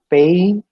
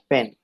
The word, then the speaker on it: pain: i mean that symbol similarly pain it is pain of pain it is not pen when you pronounce p a i n as pen the native speaker would